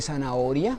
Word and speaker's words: zanahoria: es el caso de zanahoria que lleva el acento en la o entonces mire que al